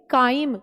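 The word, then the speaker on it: chyme: है उसको बोलते हैं काइम याद रखना चाइम नहीं बोलना प्लीज कोई बच्चे चाइम बोलता है कितना अच्छा लगता है सुनके है ना please pronounce it like काइम काइम मतलब एसिडिक फूड ठीक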